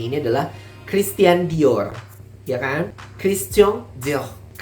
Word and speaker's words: Christian Dior: kita membacanya ini adalah Christian Dior ya kan jadi di bagian tiannya itu ada seperti y-nya juga seperti biasa R yang di belakang Dior R yaitu dikubur I dan o nya di situ jadi seperti